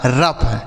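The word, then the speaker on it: rough: आर ओ यू जी एच। आर से हो गया दोस्तों र। ओ यू जी एच का उच्चारण फ। लिखा गया आपका रफ।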